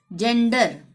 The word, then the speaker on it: gender: ठीक है, जेंडर, GENDER, ई आ रहा है ना यहाँ पे भी जी के बाद, जेंडर, ज का ही उच्चारण होगा।